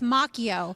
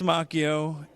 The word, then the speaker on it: Macchio: Chris Macchio.